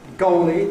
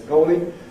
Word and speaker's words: goalie: And the example we've got on the handout, goalie, in football, the one who keeps goal, he's the goalie, which then doesn't rhyme with slowly, the adverb from slow.